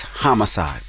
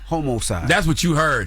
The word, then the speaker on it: homicide: It's It's homicide. What' I say? Homocide.